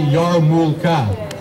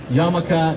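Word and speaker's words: yarmulke: i checked online and it's actually yarmulka not exactly the same and that's where i realized yamaka is the jewish version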